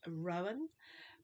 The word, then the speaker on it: Rowena: stroke pants pattern um think it's pronounced Rowan which is r o w e n a I've got notes here